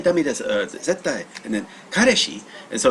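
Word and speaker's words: 彼氏: or kareshi, but yeah, it's more like kareshi, so more like ka instead of car.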